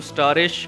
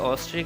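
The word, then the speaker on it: asterisk: अच्छा, ये लफ्ज़ बहुत मैंने सुना है, बच्चे मोस्टली जो हैं, क्योंकि ये स्टार टाइप है तो इसकी वजह से इसको स्टारिश कह देते हैं, लेकिन ये वर्ड प्रोनाउंसिएशन इसकी ऑस्ट्रिक है।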